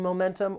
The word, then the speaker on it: momentum: this noun to gain momentum or to lose momentum the word has three syllables the stress is on that second syllable momentum now one thing I'll